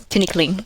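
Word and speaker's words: Tinikling: Tinkling.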